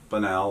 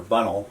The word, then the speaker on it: Bunnell: cutoff, presumably it was Mr. Bunnell or Bunnell, I don't know, I've heard it pronounced both ways, Yeah.